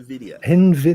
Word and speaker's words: Nvidia: you know no but you call it in the video in video yeah that's why that's what I say yeah that's how I pronounce it as well Nvidia working on a